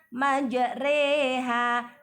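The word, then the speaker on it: مجريها: Majroha dibaca majreha.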